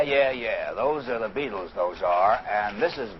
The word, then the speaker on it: Beatles: the beetle fan club The Beatles sound like insect life but it's spelled be E A Beat and these four